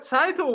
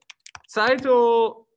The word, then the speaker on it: Tsaytl: wanted right saito again her name's hard to pronounce um we talked about how the word tsar you know is like the emperor of russia it's that same kind of ta ts sound title um it's what she